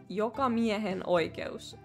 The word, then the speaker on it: jokamiehen oikeus: How you say it is jokamiehen oikeus. And I don't know why they spell it.